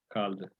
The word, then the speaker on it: kaldı: Trata de aprender la pronunciación de la E, porque esa I, digamos, si no, esa I sin punto, si no la dices, te va a generar problemas más adelante en la universidad.